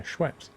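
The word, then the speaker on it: Schweppes: It's like Schwepz. What are you on about? The company that makes lemonade. Yeah. What about it? What's How do you pronounce it? Schweps. Is it Schweps? Yeah. Schweps.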